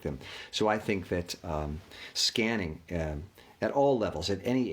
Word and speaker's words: SQANNING: emotional and mental calm it's spelled s-q-a-n-n-i-n just to kind of be different but it is referencing the concept of scanning as in scanning your